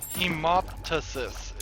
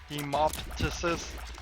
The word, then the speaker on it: hemoptysis: So I'll take that as fact that is pronounced hemoptysis. It's like M-O-P, even though it's not spelled that way.